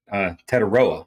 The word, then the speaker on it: Tetairoa: So you look at Tetairoa, I think is how you say his first name, but McMillan, all of